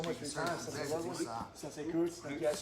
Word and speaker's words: Ludwig: Ludwig? How do you say it? I say Ludwig. It's correctly pronounced Ludwig, but we're in America.